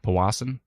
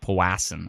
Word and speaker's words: Powassan: take shelter in powassin I say it right that time pawassan not pawassen I've seen Watson before